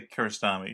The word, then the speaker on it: Kiarostami: Is that how it's pronounced? Like colonoscopy? What? Yeah. Kiarostami? I would say Kiarostami.